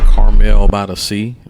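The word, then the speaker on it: Carmel-by-the-Sea: Y'all here in Carmel by the sea.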